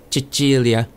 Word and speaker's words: Cecilia: be vincent or vince obviously the names cecilia and maria are basically the same in italian but pronounced a little bit differently cecilia is chagilia and maria is obviously